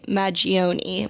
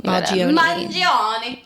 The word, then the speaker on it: Mangione: It's Luigi Maggioni. Mangione. Okay, that's it.